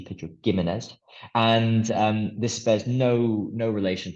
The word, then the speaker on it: Pedro Ximénez: Ximénez with a G, so spelled like Pedro Jimenez, but with a G, Pedro Ximénez.